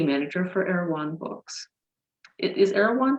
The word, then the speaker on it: Erewhon: Is Erewhon pronounced like that?